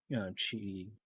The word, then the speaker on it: Chi: So that X is pronounced, Chi, Chi, but forget what, not dialect, but what, um, It's not Greek, is it? I think it is Greek.